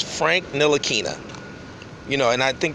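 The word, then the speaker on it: Frank Ntilikina: quick his name is Frank nil aquinnah the T is silent most people know this but is still people jacking up his name it's a very easy name to say it's Frank nil Akina you know and I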